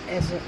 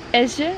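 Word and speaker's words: Èze: Hoe spreek je dat uit? Ezze. Ezze.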